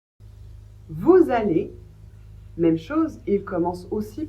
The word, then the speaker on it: vous allez: Vous allez vous allez. Même chose, il commence aussi par un a, une voyelle. Donc là aussi, vous devez faire la liaison et prononcer le S comme un Z.